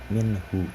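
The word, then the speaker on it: مِنْهُ: Nah, izhar itu dibacanya jelas, jadi minhu, seperti itu, tidak ada dengung atau tidak ada dileburkan.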